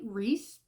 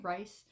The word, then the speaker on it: Rhys: a guy named Wright Reese I always want to say rice it's spelled the same name as Rye sand from acotar so that's why I want to see rice Rhys um and he's